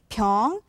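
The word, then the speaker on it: 병: it if you say pyeong it means sickness or illness as in but if you say pyeong short then it is a bottle for example pyongys okay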